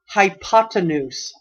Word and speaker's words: hypotenuse: has the longest name, and that word is pronounced hypotenuse.